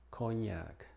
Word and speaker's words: cognac: En palabras que provienen del francés o italiano, como cognac, lasagna, monsignor, signorina.